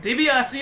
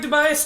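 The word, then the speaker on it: DiBiase: you pronounce it right dbrc is the way you pronounce it but i like tobias too dbs okay um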